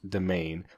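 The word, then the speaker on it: demesne: looked at that but apparently it's just pronounced domain which is so dumb the demain why would you have an estimate then why can't you just spell it normal English come on please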